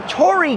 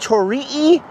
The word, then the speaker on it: torii: It's a torii gate. Or is it pronounced tori-ee?